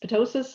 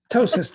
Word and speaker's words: ptosis: this right but ptosis petosis I never say yeah ptosis the the p is silent that's what I thought ptosis is a droopy eyelid